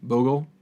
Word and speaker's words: Bogle: Slippery Bogle, right? Yeah, it's Bogle. Okay, gotta pronounce that right.